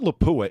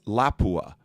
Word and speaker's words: Lapua: should hear people over the way Lao is pronounced it's not laua it's Lapua mhm and people will call each other you